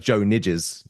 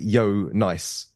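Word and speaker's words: Jo Nijs: as you read his name it looks like Joe niders Joe as we would spell it and then n i JS um that's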